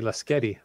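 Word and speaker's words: Lasqueti: for you let's Getty I always say lasketti the skidi island there you go the U is silent when my parents own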